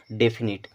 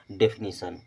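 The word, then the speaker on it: definition: पढ़ेंगे डेफिनेट क्या पढ़ेंगे डेफिनेट लेकिन टी के बाद जब आई ओ एन आ जाता है तो उसका उच्चारण हम करते हैं सन की तरह और ये बन जाएगा डेफिनेशन अब डी आईवी आईडी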